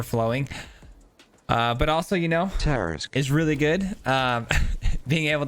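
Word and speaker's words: Tarrasque: Tarisk.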